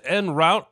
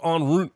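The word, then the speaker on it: en route: minutes out in route he said end route instead of on Route well I'm going to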